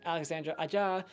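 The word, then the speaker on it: Alexandre Aja: it's pretty good CGI Alexandra a jaw that's how you say his name another great movie from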